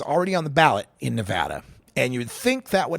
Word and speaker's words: Nevada: news people out there learn how to pronounce the names of our own States it's Nevada not Nevada it's Nevada Oregon is not a